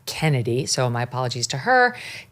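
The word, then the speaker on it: Chennedy: you pronounce the name even though it's spelled ch ch you just pronounced it Kennedy so my apologies to her Kennedy do do we have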